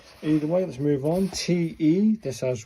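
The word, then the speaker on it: て: TE, this has 1 stroke, 2 stroke, 3 stroke. Pronounce that the TE in 10, so it's a te, isn't it? It's a te sound.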